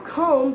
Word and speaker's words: comb: you have to do now comb doesn't become com com so that would be really weird you have to speak the whole word just be would not be voiced so whenever b is